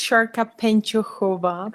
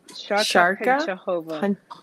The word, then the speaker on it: Šárka Pančochová: It's Šárka Pančochová. Pančochová, actually. Šárka Pancochova. Yes.